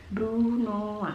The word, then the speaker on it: brunoise: kedua adalah potongan brunoa tulisannya brunoise Tapi bacanya adalah brunoa Hai potongan itu berupa